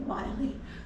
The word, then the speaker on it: Willie: was named after him if you see his name in print it looks like his name is Willie but he pronounced it Wy so we say well